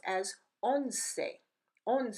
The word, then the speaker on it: once: to remind you that the letter E is not silent at the end of a word as it is in English so for example in